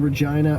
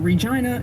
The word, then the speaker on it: Regina: idea of course that Regina is similar to the word vagina explain that to a